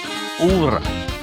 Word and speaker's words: Œuvre: We were just trying to get my pronunciation correct on the name of the album. It's Œuvre.